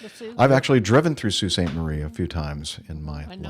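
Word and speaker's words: Sault Ste. Marie: uh to visit the Canadian Bushplane Heritage Center in Sous Staint Marie, Ontario, you definitely need to look up the pronunciation because it ain't Salt.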